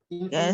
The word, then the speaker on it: information: All right, so in that case, you have the stress on the penultimate syllable, which is may, right? Information.